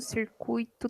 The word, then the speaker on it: circuito: ser até as carácter as palavras gratuito fortuito circuito tem tonicidade no i a e agora e quando